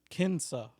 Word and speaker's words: Kinsa: on hold somebody that we used to know kinsa kinsa kinsa oh that's too bad yeah she